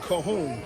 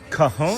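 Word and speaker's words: cajón: How do you how do you pronounce that instrument? Coahon. Coahon. Coahone.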